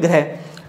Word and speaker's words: ग्रह: ये ध्यान दें, क्योंकि ये आपका रै नहीं है बल्कि क्या है री है, क्योंकि इसके उच्चारण में इसके उच्चारण में रात दिन का अंतर है। इसको अपन बोलते हैं गृह और इसको बोलते हैं ग्रह।